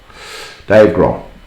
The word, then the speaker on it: Dave Grohl: I think you say you pronounce it that right? Dave Grohl. Grohl, yeah. Yeah, Grohl. Dave Grohl.